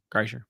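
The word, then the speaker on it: Kreischer: and and Bert kryer Cher kryer yeah you said it right kryer yeah is that they've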